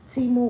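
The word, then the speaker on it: Temu: my first Teemo water Teemo that's how you say it tea more water I only watered one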